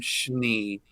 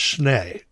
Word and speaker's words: Schnee: I believe that they pronounce it Schnee. We may be the only Schnees that pronounce it Schnee, and Schnee in German is snow.